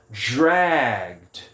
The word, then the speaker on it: dragged: E aí a pronúncia dele, como ele está aqui nessa coluna, o ED vai ser apenas um som de D. Então fica dragged. Dragged. Ó, eu vou do G direto para o D.